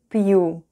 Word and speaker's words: пью: The first sound is P, then goes soft sign, and soft sign makes the preceding letter sound soft.